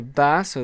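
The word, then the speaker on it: بَسْ: pause on the seen, so we would pronounce this as bas, bas.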